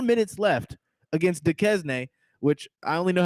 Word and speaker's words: Duquesne: I was going Duquesne, and I was playing Duquesne. Oh, I am saying it wrong. Yeah, it's Duquesne.